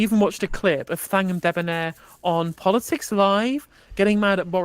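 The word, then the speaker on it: Thangam Debbonaire: Can you pronounce her name correctly, please? Thangam Debonair.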